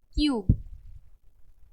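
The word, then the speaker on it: cube: बढ़ते हुए देखेंगे की जब यू के साथ ई आए तो ई जो है व साइलेंट हो जाएगा हमारा और यू का साउंड लंग एग्जांपल देखेंगे हम क्यूब य बीच में हमारे ड मतलब गप कोई और लेटर है क्यूब वॉल्यूम य की यू का साउंड जो है व लंग में जा रहा है वॉल्यूम म्यूट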